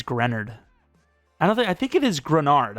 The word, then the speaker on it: Greenard: It's not Greenard or anything like that. Or maybe it's Grenard.